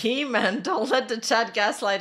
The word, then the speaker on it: He-Man: It's pronounced Hyman? Oh, is it? I don't know. Yeah, but towards the end of his career, Wolverine wasn't regenerating that much anymore, was he? No, it's He-Man.